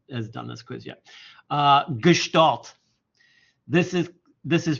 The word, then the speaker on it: Gestalt: Gestalt.